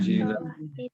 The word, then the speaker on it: unzila: Unzilah. Nah, lihat huruf pertamanya jadi dom makan u. Kemudian huruf sebelum terakhir jadi kasrah, zi. Maka bacanya unzilah. Ya.